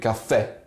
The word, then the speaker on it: caffè: For example, the word caffè, there's a symbol in Italian called accento, and when this symbol is placed on a vowel, it basically strengthens the sound of it. So we don't read caffè, we read caffè.